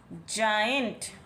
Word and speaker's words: giant: इस तरह से जी के बाद जब ई आई या वाई इनमें से आपको कुछ दिखाई देगा तो आप उसको एज ज रीड करेंगे। जाइंट, जाइंट व्हील में बैठे